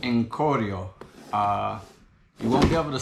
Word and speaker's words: Corio: So I believe the way you pronounce it is Corio.